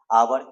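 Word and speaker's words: hour: आवर यहाँ देखिए एच है लेकिन इसको पढ़ना आवर है, आवर माने घंटा, अर्थात यहाँ अ के तरह उच्चारण हो रहा है, एच साइलेंट है, इसलिए यहाँ एन आवर,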